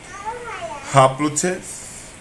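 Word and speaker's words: haplotes: And it is hoplotes. Hoplotes. And it is spelled H-A-P-O-L-O-T-E-S. Hoplotes. H-A-P-L-O-T-E-S.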